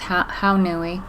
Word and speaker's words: Haunui: This is some Pearl Haunui, I actually think it's pronounced Haunui, and Mulberry Silk Blend.